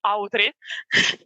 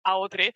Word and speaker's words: AO3: say this in Italian because in Italian it's Autri, Archive of Our Own. Oh, okay. Yeah. AO3, it's Autri.